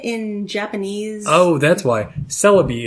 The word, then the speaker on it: Celebi: Celebi is the English name. Oh, okay. So Cerebi is the... Is the website. Or the way it's pronounced, sort of, in Japanese.